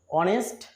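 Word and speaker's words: honest: এখানে দেখো অনেস্ট শব্দটা প্রথম বর্ণটা কি আছে এইস, এটি একটি কিন্তু কনসোন্যান্ট, কিন্তু এর উচ্চারণটা অ অর্থাৎ এর মতো হচ্ছে, ভাওয়েলের মতো হচ্ছে।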